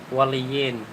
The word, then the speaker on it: Hualien: Pronounce mo siya Hualien. Hualien.